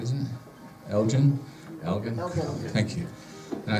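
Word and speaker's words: Elgin: general goods store in Elgen I think that's pronounced right isn't it Elgen Elgen thank you and I said I've never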